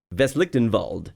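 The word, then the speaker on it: Westlichtenwald: Veslichtenwald. I was wondering how that was pronounced.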